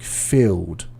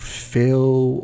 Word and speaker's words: filled: the pronunciation for example words like filled i i'm not hearing the dust sound it's sounding a bit more like feel or fell um so what i